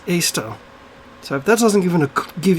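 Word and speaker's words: Eostre: e-o-s-t-e-r or r-e um it was actually pronounced easter not ioster right her name was actually pronounced easter so that doesn't even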